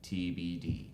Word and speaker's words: TeeBeeDee: It's also we're gonna be having a troupe from Northeastern, TBD. So Is that their name? Is their name Because it's TBD? funny. yeah, it's spelled TEEBEEDEE.